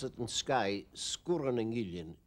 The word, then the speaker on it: Sgùrr nan Gillean: We pronounce it in Skye, Sgùrr and Gillean. Sgùrr has a long U normally, but when you put in the glide vowel between the two consonants after it, it becomes short, Sgùrr and Gillean.